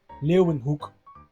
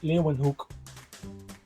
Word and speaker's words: Leeuwenhoek: I think this is pronounced in every language differently, but in Dutch this is pronounced as U. So it is pronounced as hook.